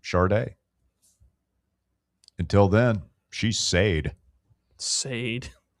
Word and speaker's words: Sade: If she wants to be called Sade, her name should be spelled Shardeeday. Sade.